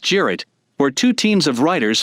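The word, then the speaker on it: Cirit: traditional turkish horseback game cyrit pronounced jarrett where two teams of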